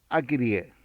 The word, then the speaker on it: Acarie: o Bárbara, que en el futuro será Barbe Acrier. Se escribe Acarie.